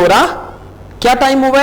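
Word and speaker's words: hora: नहीं 8 नहीं बजे हैं। रिपीटा, दोहराइए। ख्वान, कॉन्टेस्टे जवाब दीजिए। के ओराएस, के ओरा, अब स्पेनिश में एच जो है वो साइलेंट होगा, आपने इसको होरा नहीं कहना बल्कि आप कहेंगे ओरा।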